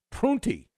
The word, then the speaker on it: Prunty: when the playoffs start some assistant named Joe prunty I believe is how you pronounce his name he's the interim coach good